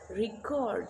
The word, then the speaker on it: record: So when it is used as a noun, we use record. She set a new record. Now it is used as a verb. We will record this match. Record. So cord is being stressed.